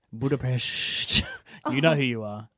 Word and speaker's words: Budapest: annoys me when people say budap you mean Budapest Budapest you know who you are oh it's so